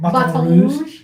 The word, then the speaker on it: Baton Rouge: Baton Rouge. Because it's French, yeah.